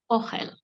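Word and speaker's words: אוכל: Another very important word is talking about your food, which is ochel. If it's easier for you to say ochel, it's okay. It's pronounced ochel, which means food.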